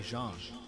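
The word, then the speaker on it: Jeanne: color variation inspired by Jean Jean looks like je that's how that's pronounced looks like Jean she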